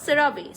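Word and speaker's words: CeraVe: সো এই প্রোডাক্টটাও আপনারা available পাবেন এবং এই ব্র্যান্ডের, হ্যাঁ এই ব্র্যান্ডের এটার রিয়েল উচ্চারণটা কি? সেরাভি না? সেরাভি।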